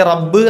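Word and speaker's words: رب: പല ആളുകൾക്കും തെറ്റ് വരാറുണ്ട് ഈ റബ്ബ് എന്നുള്ള പദത്തില റ കഴിഞ്ഞ രണ്ടു ബാ ഉണ്ട് യഥാർത്ഥത്തിൽ ബബ് എന്നാണ് യഥാർത്ഥത്തിൽ അപ് ഞാൻ ശദ്് കൊടുത്തപ്പോ എന്താക്കി റബ്ബ് എന്ന ഒറ്റ വാക്കാണ് ആറ അല്ല മറിച്ച് അറബി ഭാഷ ആകുമ്പോൾ ഒരല്പം ഘനം ഉള്ള അക്ഷരമാണ് റ എന്നുള്ളത് ഒരല്പം ഒരരു മുഴക്ക അസ്സലാമു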